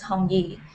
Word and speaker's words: Hong: my full name is hongi and h-o-n-g is pronounced hong in china and that sounds like the word read in chinese so that's what they